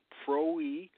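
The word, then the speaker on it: πρωΐ: This word is P-R-W-I, and it's pronounced pro-e.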